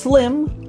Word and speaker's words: SLiem: It's pronounced Slim, so it's the Slim stream, actually.